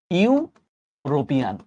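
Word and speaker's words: European: অ্যান ইউরোপিয়ান, ইউরোপিয়ান যখন বলতেছি তখন উচ্চারণটা কিন্তু এরকম, ইউরোপিয়ান।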